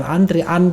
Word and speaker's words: antre: awalnya kan bukan bukan antrian three tulisannya antre terang Tri walaupun kita bacanya antri tapi antre silakan Oke gimana Menurut